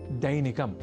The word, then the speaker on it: दैनिकम: अब वाक्यगत अभ्यासार्थ अगला शब्द है दैनिकम जहां ऐ अक्षर का प्रयोग है। तो हम दैनिकम जैसे अशुद्ध उच्चारण ना करें।